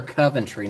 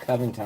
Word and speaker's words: Sarah Coventry: Sarah Coventry, not Covington.